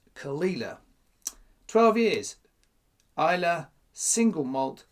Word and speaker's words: Caol Ila: so Kila first of all you might notice it's spelled kale Isa is how I thought it was pronounced does tell you on the box it's khila and it's all over the Internet it's pronounced khila 12 years Isa single malt scotch whiskey never